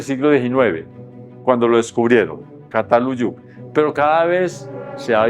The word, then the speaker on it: Çatalhöyük: Pero este es muy suave, parecido a la S, casi como la S, Çatalhöyük. Eso es pues nada más un recorderis ahí. Pero nosotros quedamos bien, cuando decimos Çatalhöyük, nadie se va a